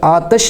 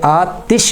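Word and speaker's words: آتِش: لوگ پڑھتے ہیں آتش۔ یہ لفظ آتش نہیں ہوتا، یہ آتش ہوتا ہے، تا کے زیر کے ساتھ۔ اسی طرح مصطفیٰ لفظ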